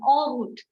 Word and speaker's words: en route: So in the next slide, we are having this word entrepreneur and en route. En is pronounced as o. O. We start pronouncing at o. Okay. So o, entrepreneur, en route.